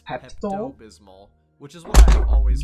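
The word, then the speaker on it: Pepto-Bismol: this one wrong initially thinking it was actually pepal Bismol when in reality it's pep bismal which is why I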